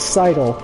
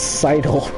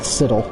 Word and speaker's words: sidle: sidled it's not it's sidle s ideally sidle because we're getting up against the side of something sidle I don't know why people came up with Siddal I think that's very